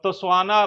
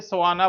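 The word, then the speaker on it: Tswana: और इंग्लिश भाषा बोली जाती है और तोस्वाना भाषा बोली जाती है। टी को साइलेंट कर दीजिए, सवाना बोलिए, सवाना भाषा। टी उच्चारण नहीं होता है, जब इसके पहले टी होता है तो स्वाना बोली जाती है।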